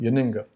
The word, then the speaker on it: Yennenga: Yennenga.